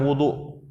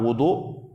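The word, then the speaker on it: وُضوء: terdapat air untuk wudu ya jadi membacanya Wadu beda dengan wudu membaca dengan damah wwya dengan damah wudu itu maknanya adalah perbuatan atau berwudu tapi kalau membaca wauya dengan fathah baris depan Wadu maka itu artinya bejana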